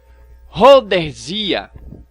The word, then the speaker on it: Rhodesia: É necessário recordar que o crânio de Rhodesia, ou Rodésia, assim como você queira pronunciar, um dos mais antigos achados antropológicos, ele exibe dentes com cárie.